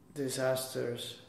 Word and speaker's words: disasters: Disasters. How do you pronounce the first S? Z. Yeah. And the second? Z. So it is? Disasters.